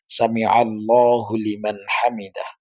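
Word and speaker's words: سمع الله لمن حمده: আমাদের দেশে সমস্যা হয়েছিল একজন আলেম এটা বলছিল যে হুলিমান হামিদা বলতে হবে হামিদা তো এটা আসলে সামি আল্লাহু লিমান হামিদা কিন্তু যখন আপনি মিলে পড়তে যাবেন তখন উচ্চারণটা এরকম হয়ে যায় যে সামি আল্লাহু লিমান হামিদা এখানে হুলিমান আলাদা করার কিছু নাই আবার হুলিমান যে হয়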